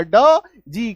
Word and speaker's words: dodge: के लास्ट में दिखे तो इसका एक सिंगल उच्चारण ज आएगा। अगर अपना साधारण दिमाग लगाएंगे तो डी का ड, जी का ज, ई का एकार की मात्रा, डगे डजे, ऐसा कुछ आ जाएगा।